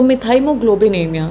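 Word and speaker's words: methemoglobinemia: तो मिथाइमोग्लोबिनेमिया, सही प्रोनाउंसिएशन इसकी बहुत ज़रूरी है, मिथाइमोग्लोबिनेमिया इसको बोला जाता है।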